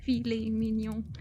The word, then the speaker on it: filet mignon: I was poking at his pronunciation. Yeah, filet mignon.